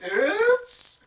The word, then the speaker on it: Coops: Coops. I just realized Coops rhymes with oops.